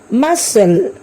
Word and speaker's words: muscle: Now see the words where C is silent. See the words muscle, seen.